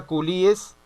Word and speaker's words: culíes: le van esos chinos coli es se pronuncia culíes y se escribe coli es o sea trajeron esclavos